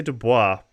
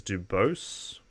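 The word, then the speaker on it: Du Bois: seeking higher education w.e.d now i would say dubois but apparently the american pronouncing is dubose just because americans took a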